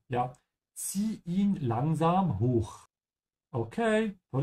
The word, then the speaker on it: zieh: Remember to pronounce the Z sound like T-S-C. Ja, zieh ihn langsam hoch.